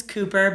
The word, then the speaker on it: Kupper: Our last name's Küpper, but it's spelled KUPPER.